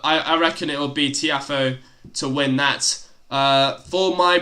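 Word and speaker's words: Tiafoe: Who? Tiafo. Alright. That's how you pronounce his name.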